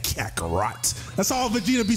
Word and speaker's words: Kakarot: You gotta say it like that, Kakarot.